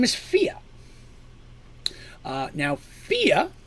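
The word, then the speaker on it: Fiade: name is fia now fia for the record is spelled f-i-a-d-e now if you're wondering how in the world i came up with fia out of that that is an old gaelic name to scottish name and that's the traditional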